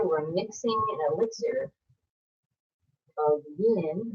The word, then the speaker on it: yin: So here we're mixing an elixir of yin, rhymes with shin, yin energy.